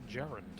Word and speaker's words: Garand: Mm, Fun fact, it's actually pronounced Gerund. yeah, Is it? Yep. Is it? yeah. It's from the person who made it.